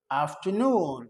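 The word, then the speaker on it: afternoon: हो तो बोलते हैं अब यहां पे भी आर आ गया इसको साइलेंट करेंगे तो बोलेंगे गुड आफ्टरनून क्या बोलेंगे गुड आफ्टरनून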